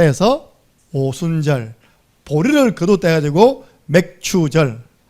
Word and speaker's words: 맥추절: 보리를 50일 만에 거두었다 해서 오순절, 보리를 거두었다 해가지고 맥추절. 아까 우리 오순자사님 잘못 발음하면요 맥주절 될 뻔했습니다. 맥추절, 보리를 거두어 드린 그 절기.